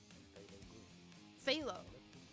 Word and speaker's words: phthalo: love them darn Greeks phthalo so the hidden P all right all right